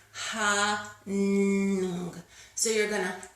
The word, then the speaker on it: Ham: I learned that we actually should be pronouncing it hung with an NG.